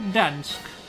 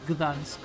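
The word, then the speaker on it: Gdańsk: We're going to Dansk. Does the G get pronounced? Or is it Dansk? No, I'm pretty sure they pronounce the G, so it's like Gdansk. I think.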